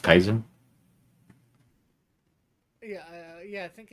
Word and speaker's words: Kaiser: JR says the 3 royal cousins, all grandsons of Queen Victoria, King George the Fifth, Kaiser Wilhelm II, Caesar, not Caesar. I know how to pronounce Kaiser.